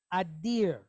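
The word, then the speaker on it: אדיר: So how do we pronounce this? What do you call that? What do you call that creature with the antlers that runs in front of your car late at night in the woods? That's a deer, right? So we have a dalet. So ear, deer, okay? So the word is adir.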